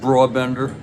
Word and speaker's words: Brabender: and now I thought it's broad Bender they pronounce it broad Bender interesting interesting here's F Fior now I'm not